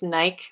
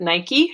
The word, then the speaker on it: Nike: All right, I guess some of you probably pronounce this Nike, but since it's an American company, I'm going to pronounce it Nike because that's how we say it at home.